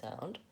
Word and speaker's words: about: in the word about we might have a tendency tendency to say about or about because we see letter a but it's actually a vowel schwa it should sound more like about same thing with